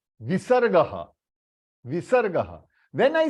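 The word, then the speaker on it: विसर्ग: It is pronounced as half ह, यानी अ के साथ ह, and that h is half. So how you will pronounce a h, a h, a h. H, when you are saying h, you are pronouncing it out. But when you are giving a jerk, h, h, that is you are stopping the h in between.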